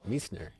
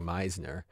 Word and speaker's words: Meissner: You can probably say it right. Meissner. It's of all these Americans saying Meisner.